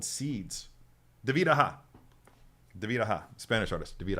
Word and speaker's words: David Aja: And by the way, if you guys didn't know, that is how you pronounce his name, David Aja.